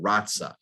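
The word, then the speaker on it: raza: just lost the page there the spanish word ratsa it's spelled r-a-z-a from which the english word race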